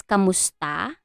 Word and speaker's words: kamusta: little bit so um in filipino it is kamusta but in spanish i i cannot pronounce it very well but it's mostly it